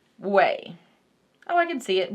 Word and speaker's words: Ouai: Oh, when you Google it, it says pronounced Ouai. So, Ouai.